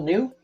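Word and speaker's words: Ngu: I'm pretty sure that's New. It's pronounced like NEW. So Cal New.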